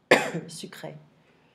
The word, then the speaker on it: sucré: So be careful of this small accent on top of the E. We change the pronunciation. So here it's E sound. Okay. Sucre ou sucré. E. sucré. So no, it's not easy all the time, but just remember that E with an accent changes the pronunciation.